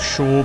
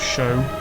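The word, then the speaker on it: Shaugh: village of shoe prior which my dad wants to pronounce shaw but i want to pronounce show over here you've got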